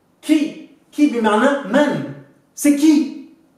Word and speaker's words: qui: Donc K. Qui.